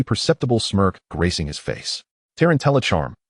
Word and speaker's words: tarantallegra: The accent for tarantallegra is on the second syllable, not the third.